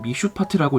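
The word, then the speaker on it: משפט: 의는 히브리어로 째다까, 공도는 미슈파트라고 읽습니다.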